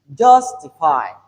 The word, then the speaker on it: justify: The first word we have here is justify. The stress is on the first syllable.